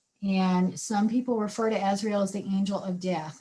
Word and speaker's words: Azrael: and that was archangel azrael and her name is spelled a-z-r-a-e-l and some people refer to ezreal as the angel of death now she doesn't